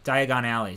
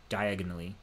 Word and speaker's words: Diagon Alley: Diagon Alley. So in the movies, it's pronounced Diagon Alley, right? And that's how I read it. But in like the like he reads it like diagonally, you know, which is interesting.